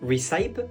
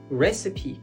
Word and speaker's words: recipe: Alors là, instinctivement, on dirait recype alors que pas du tout. On va dire ça recipe.